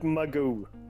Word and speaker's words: Magoo: Magoo am I saying your name correctly by the way yeah slow close enough muggu tell me tell me how do you pronounce your name then i pronounce it Magoo okay you're very good